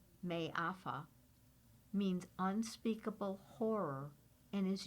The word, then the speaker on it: Mafa: Mafa, a Swahili word pronounced May-afa, means unspeakable horror and is used to refer to the horrors of the transatlantic slave trade.